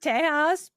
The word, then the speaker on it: Tejas: In Spanish, sometimes it's pronounced Tejas. Yeah.